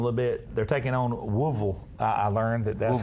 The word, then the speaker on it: Louisville: They're taking on Woolville. I learned that's how you pronounce it.